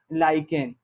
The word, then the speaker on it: lichen: अच्छा, इसकी स्पेलिंग होती है LICHEN, है ना, लाइकेन। आप इसको हो सकता है लिचेन पढ़ रहे हो, लेकिन यहाँ पर CH का जो है वो लाइकेन के रूप में यूज किया जाता है।